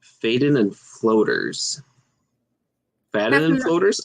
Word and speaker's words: Faden: Pronounced Faden means thread and refers to white lines that run through the crystal.